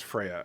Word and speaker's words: Freya: tried to ignore but he kept saying free I'm sorry I am truly sorry I did not realize was Freya and I don't like